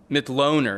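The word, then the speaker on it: Mitloehner: the transportation sector but dr frank middle i mean mith loner is how you say his name mcloner an animal scientist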